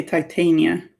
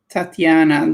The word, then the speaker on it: Titania: You pronounce it like I do for Shakespearean stuffs. Okay. Cool. I know someone, I think maybe by accident, pronounced it Tatiana.